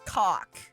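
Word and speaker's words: kock: And I'll say, for those who don't know, Shy Guy taught that in Swedish, the word for chef is cock, except just spelled with a K instead.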